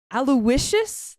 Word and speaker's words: Aloysius: Then Barry Fitzgerald as Aloysius, I believe is how you say that. That's how you say it.